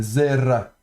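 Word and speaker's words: זֶרַע: Donc le ain ici, pour rappel, il est, en hébreu moderne, avec la prononciation de l'hébreu moderne, il est muet. Donc c'est le support, simplement, ici on ne l'entend pas. Normalement, ça se prononce du fond de la gorge, mais ici, on ne le prononcera pas.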